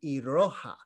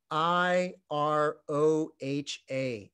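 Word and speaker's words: いろは: here is a beautiful little poem called the iroha a in in in english script i r o h a the iroha and actually the very first uh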